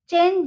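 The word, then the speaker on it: change: जैसे चेंज, चेंज जे तो नहीं बोलेंगे हम चेंज बोलते हैं इसको। तो यहाँ पे देखिए लास्ट में है ये ई, हो गया साइलेंट।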